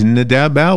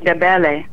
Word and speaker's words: Ndebele: What is the other language? Ndebel? What is that? The other one that you couldn't pronounce is called Ndebele.